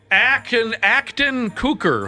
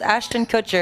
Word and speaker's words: Ashton Kutcher: Acton Kutcher. How the hell do you say his name again? Close. Ashton Kutcher.